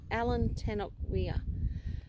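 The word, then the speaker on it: Allan Tannock Weir: To the Alan Tennock. How do you say that? Tennock Weir. Yeah, that's right. Alan Tennock Weir.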